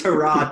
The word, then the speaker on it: Tyrod: We're actually been pronouncing it wrong. If you remember Tyrod. his Hard Knocks episode, it's Tyrod Taylor.